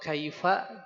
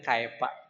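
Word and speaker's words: كيف: Sehingga baca ee alam taro kaifa dibacanya dengan kaifa ya. Kaifa dibaca dengan kaefa. Betul Bapak Ibu. Ada yang orang Sunda kaifa dibaca kaefa itu.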